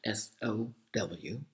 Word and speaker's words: sow: And then you have another word that is also spelled S-O-W, but is pronounced sow.